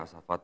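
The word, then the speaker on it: As-Saffat: 100 sampai 112 ya asfat tulisannya bacanya asfat ayat 100 S samp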